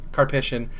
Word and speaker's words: Karpyshyn: The fact that, and I might be butchering his name, Drew Karpyshyn, is that how you pronounce his last name, Jordan? Karpyshyn.